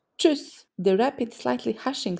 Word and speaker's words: tschüss: They're all talking quickly and excitedly, creating a sound that's similar to ch, ch, ch, tschüss.